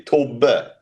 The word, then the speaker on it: Thobbe: Uh well in Swedish that would be Tobar. Tob.